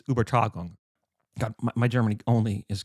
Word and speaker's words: Übertragung: this, and forgive me for my terrible German pronunciation, but it's Übertragung. God, my German only is getting worse. I guess I'll read it, but yeah, so it's Übertragung.